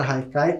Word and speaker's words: haikai: podem ver a palavra Haikai como ela é de origem japonesa se escreve com h mas tem esse som de R e muitas vezes pode